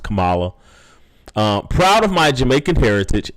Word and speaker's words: Kamala: Indians say that name is pronounced Kamala.